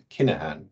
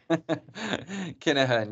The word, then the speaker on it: Kinahan: I hope that's the right pronunciation. There is Kinahan. There is no F in my name and in my surname. Kinahan, yes.